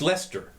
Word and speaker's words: Leicester: There's a town, I think, in Massachusetts, and it's spelled Leicester. It's pronounced Leicester. It is. It's pronounced Leicester.